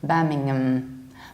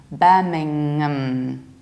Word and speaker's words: Birmingham: is Birmingham young it's so tasty from youngnam birmingham bus don't exaggerate don't say berming mm-hmm because that's a bit too much you have to pronounce this mmm Birmingham Birmingham I used to work in Birmingham not